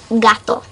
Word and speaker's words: gato: say it okay cat anything in Spanish is gato got to it's not toe it's not do